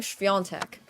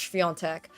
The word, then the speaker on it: Świątek: And I've been trying to convince everybody that her name is pronounced Świątek. But then everyone's like, no, Świątek or something. And I'm like, it's Świątek. The A is like this N thing.